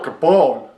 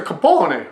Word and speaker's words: Capone: It's a vowel, A-I-O-U. E is pronounced A. So it's a Capone, but nobody pronounces it like that.